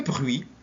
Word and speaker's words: bruit: Exemple, le bruit avec un T, l'accord avec un D, le tapis S, l'enfant T et le choix X.